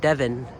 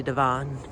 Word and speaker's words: Devon: streets wrong like devon avenue you know people pronounce it devin but it's actually devon which you guys should check out i'll definitely